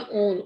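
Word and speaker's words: -one: C double bond O है तो उसके लिए यूज होता है ओन। ओन की स्पेलिंग यहाँ पे ONE होता है, पर इसको 1 नहीं पढ़ना है।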